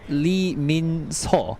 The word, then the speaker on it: Lee Min-seo: Lee Min-seo, and we call Lee in E, like E.